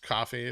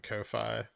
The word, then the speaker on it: Ko-fi: already due you know it's pronounced coffee not kofi yeah but that's stupid